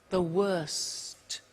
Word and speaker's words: worst: the tea bad worse the worst don't forget to pronounce the T and then far the